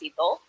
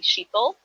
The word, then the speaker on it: Shital: pronounce my name so my name is pronounced sibo um but then there's lots of indians that pronounce the age so they'll call me shito um then i have